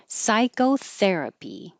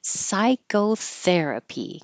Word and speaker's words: psychotherapy: pompus pompus tiid tiid Psychotherapy the the is underlined because it's secondary stress which means it will get longer but not higher Psychotherapy and I can't say